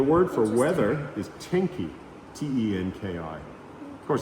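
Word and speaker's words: 天気: And the word for weather is tenki, Tenki. Of course, it's not ten because they don't use English, but it's the Japanese characters that are pronounced tenki.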